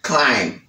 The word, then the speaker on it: climb: Climb, climb.